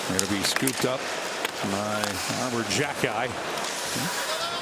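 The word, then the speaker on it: Arber Xhekaj: He finds some open ice with it, but it'll be scooped up by Armor Jacki. That's one of those names where you take a look, and yes, that's how he pronounces it.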